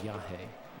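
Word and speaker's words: yajé: form of Iawaska um is called Yah, which is spelled Y A J E with an accent E. Yah.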